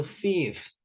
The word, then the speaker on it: fifth: Kelima itu fifth. Fifth. Bukan five ya. Kalau five lima.